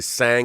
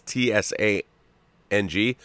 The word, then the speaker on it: Tsang: I say Sang because it's Tsang. I know I've been mispronouncing it the whole time, but she's like, it's okay.